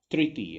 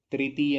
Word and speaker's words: तृतीय: और ये आएगा, ये ता है और उस पर री, री लगा है, री, त्रि, त्रि, त्रि, त्रि, इस तरीके से तृतीय होता है, तृतीय नहीं होता, तृतीय होता है।